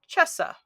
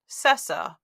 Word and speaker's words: cessa: on the second line we have the word Chessa C SSA now if we were speaking this in English we would pronounce that cessa maybe Kessa but definitely Chessa does not come to mind so this is a